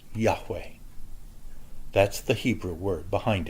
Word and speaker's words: Yahweh: Scholars aren't absolutely sure that that's even the correct pronunciation, but we all agree that that is how we're going to say it, Yahweh.